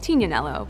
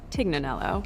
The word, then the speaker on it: Tignanello: The name the TIG comes from a wine called Tignanello, but oftentimes it's mispronounced Tignanello.